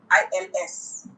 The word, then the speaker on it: ils: and they're all men, you use il, I-L-S. When it's a group of men and they are all men, I'll use Yes. ils. Il, I-L-S.